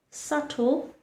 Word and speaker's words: subtle: The letter B does not make the B sound. In fact, it remains completely silent.